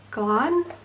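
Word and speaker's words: Glahn: a character called Thomas Glan? I don't know how to say his name. I'm going to say Glan because it rhymes with Pan.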